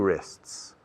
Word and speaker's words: wrist: I have two wrists. Mis muñecas? Yeah, my wrists, okay. Empieza por W muda, wrist.